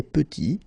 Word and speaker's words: petit: Final T is not pronounced, and then when you add this E at the end, you get the sound T, T, petite.